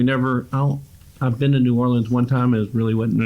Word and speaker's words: New Orleans: Houston Street yeah well then how do you say New Orleans New Orleans New Orleans New Orleans New Orleans how do you say it like in conversation New Orleans New Orleans but if you live there it's like nollins we're almost to Texas